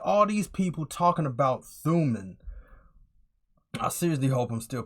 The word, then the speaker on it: Thumin: Anyway, in my last video, I was pronouncing her name wrong. I believe how she pronounced her name is Thuman, and I was calling her Therium.